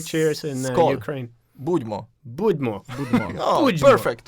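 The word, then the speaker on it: Будьмо: Budmo.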